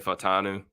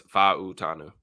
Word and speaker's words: Fautanu: And to be honest with you, I was saying Fatanu, but it is Fautanu. That's how you say it.